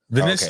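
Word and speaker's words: Vinícius: Is it Vinicius? How do you say his name? Vinicius.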